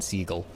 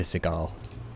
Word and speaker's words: Seagal: it uh cinch x it is actually pronounced his name is steven siegel uh he changed it to seagal um he is very